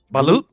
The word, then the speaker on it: balut: That boulette, that blue. Balut?